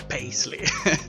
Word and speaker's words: Paisley: Time series by Sam Paisley. A very kind follower here on this channel pointed me to the fact that the surname is actually pronounced Paisley and not Paisley, as I said.